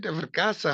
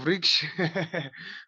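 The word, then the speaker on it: vṛkṣa: Is it vrkasa? How do you pronounce it, Prabhu? Riksha. Oh, vriksha.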